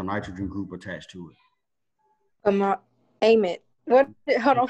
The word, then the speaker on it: amide: Amide? Can't speak up. How do you say it again? Amide? Yeah, Amide? Amide? the A is short.